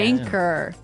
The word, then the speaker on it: anchor: Anchor. Anchor. Anchor. Now, it's spelled Anchor. Right. But you don't pronounce the CH as you normally would, right?